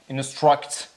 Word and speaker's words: instruct: that one it's instruct instruct this one is really important for the sound that U is pronounced as a a instruct instruct instruction instruction